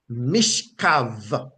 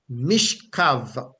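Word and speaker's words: מִשְׁכָּב: Those words come from the same root word, and it is pronounced mishkav, mishkav, mishkav, because in the Hebrew, B is generally not pronounced as a B, but more as a V.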